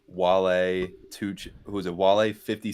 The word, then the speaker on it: Wale: who half those dudes Wale? were. How do you even spell that? Wale. Like whale, W-A-L-E, whale.